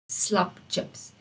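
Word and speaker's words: slaptjips: We just used the word chips from English, but we spell it a bit differently because the t sound in Afrikaans is spelled with DJ.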